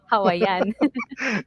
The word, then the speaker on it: Hawaiian: pagkaka-pronounce, pagkakadiin sa word, Hawaiian. Hawaiian.